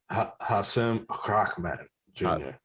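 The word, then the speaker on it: Hasim Rahman Jr.: Hassim Rahman Jr. Thank you for pronouncing it correctly.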